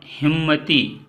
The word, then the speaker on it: हिम्मती: पहले लिखा हुआ है का हिममती, तो ये शब्द गलत है। सही शब्द होगा हिम्मती। हिम्मती।